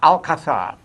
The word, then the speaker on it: Alcázar: Alcazar, the Alcazar, A-L-Z-A, Alcazar. is the- C-A-Z-A-R. Yeah. And the accent is on the C-A, Alcazar.